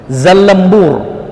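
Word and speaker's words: زلنبور: Zallambur dipathahkan zaina za. Cara bacanya disebutkan ulama kita secara spesifik. Lamnya itu ditasydidkan zalla. Selanjutnya setelahnya nun, zallan, dimatikan baris nunnya, zallan. Ba setelahnya huruf ba, setelah itu waw dan ra, zallambur.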